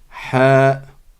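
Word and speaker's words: حاء: le ha le ha c'est une lettre qui est au milieu de la gorge elle n'existe pas en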